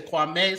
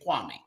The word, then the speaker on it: Kwame: So it's Kwame, not Kwame, because sometimes I hear people say Kwame, sometimes I hear them say Kwame. So actually, they're both correct. Just Kwame is the actual original Guyanese translation. Kwame is the European translation of or pronunciation rather of Kwame.